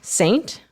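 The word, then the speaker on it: Seint: to help me scint and s e i n t Saint Saint mhm oh come on come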